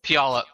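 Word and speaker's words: Puyallup: How do you pronounce it? Paliup? Pialup.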